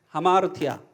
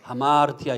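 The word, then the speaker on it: ἁμαρτία: 이 쉼표가 거꾸로 돼 있으면 숨을 내쉬면서 발음을 해라 그런 뜻입니다. 그래서 숨을 내쉬면서 발음을 하다 보니까 하마르티아 이렇게 되는 거예요. 예, 원래는 아마르티아인데 다시 한번 해보겠습니다. 하마르티아.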